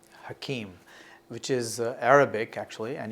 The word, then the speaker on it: Hakeem: Well, it's very interesting because Hakeem, H-A-K-E-E-M, is Arabic in nature. Some of my Jewish constituents will pronounce it Hakim because there's also a derivation in Hebrew as well.